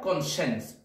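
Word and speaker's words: conscience: না কোণের পরে সাইন্স তখন একসাথে বলা হয় কনসেন্স নট সাইন্স সাইন্স কিন্তু আলাদা কনসেন্স কনসেন্স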